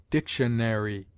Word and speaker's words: dictionary: a distinct enunciation and the popular habit is to say dictionary military with a secondary accent on the penultimate instead of sinking the third syllable as is so common in england there is no doubt